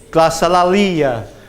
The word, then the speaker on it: Glossolalia: Can anyone pronounce it? Yes, good. Glossolalia.